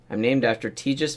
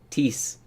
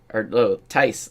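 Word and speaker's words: Thijs: He thought it was Tej, and actually said Ties, Tice, like dice with a T.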